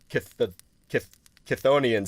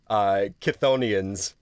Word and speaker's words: Chthonians: Yeah, I 100% believe Onions is the correct way to end it. As for the beginning part, it's like... Yeah. Chitha, Kutha, Kahatha. Because it's not Cthulhu, because it's not spelt like how Cthulhu is spelt. It's not CTH, it's CHTH. Chthonians.